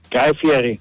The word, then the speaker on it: Guy Fieri: Guy Fieri. There you go. Nailed it. Good job, Dale. Hang on Proper one second.